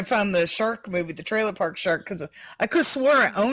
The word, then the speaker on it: Trailer Park Shark: Yeah, no, it's Trailer Park Shark. I got so much shit for that. Did I say it right? Trailer Park Shack. Trailer Park Shark. Trailer. Trailer Park No. Shark. Say it with me.